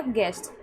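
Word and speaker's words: guest: Okay, गेस्ट, यू ई साथ में है तो इसका प्रोनाउंसिएशन क्या हो रहा है यहाँ पे? ए हो गया, गेस्ट।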